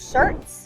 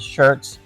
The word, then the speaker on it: Schertz: highlighting the cities of shirt s c h e r TZ but it is shirt pronounced just like the shirt your shirt you're wearing and cbolo which is